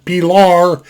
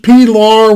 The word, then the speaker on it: Pilar: pillar in the poor pilar is how it's pronounced pilar the newest pilar which is a pilar 3.